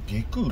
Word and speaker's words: 外宮: つうか、そもそも伊勢神宮って下空、内宮って読み方